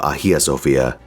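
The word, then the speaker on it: Hagia Sophia: our journey begins with Haj Sophia's prayer my understanding is that it's actually pronounced something closer to AIA Sophia with a silent h but if I say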